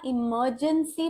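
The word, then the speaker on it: emergency: एक consonant sound है तो यहां इमरजेंसी बोलते वक्त आर का उच्चारण नहीं करना है लर्न यहां पर भी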